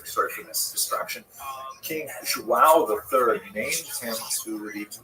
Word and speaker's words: João: I used to think it was wow, like when the baby was born, the mother would say, oh, wow, it's a boy. But it's actually João.